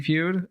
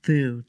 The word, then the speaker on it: F.E.W.D.: been volunteering with Community Feud and it's been it's actually pronounced food and I do that